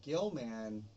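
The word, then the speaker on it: Gill-man: It's Gilman. Gilbert. Gilbert. The fish man. Um but it's Gilman. That's his name. Okay, everybody. and Gilman when Universal created their monster verse, their uni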